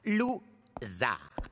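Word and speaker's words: Lou Zarr: Mon nom se prononce Zar. Lou-Zar.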